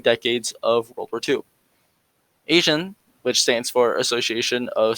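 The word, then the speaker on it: ASEAN: the association of southeast asian nations or for short a-s-e-a-n which i'd like to pronounce asian because it's looks very similar similar so asian was one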